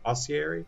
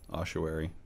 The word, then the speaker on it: ossuary: happening in this elsewhere oscary ossowary how do you pronounce it uh i think it was the latter one yeah ossuary oscar where then i said it wrong yeah perhaps we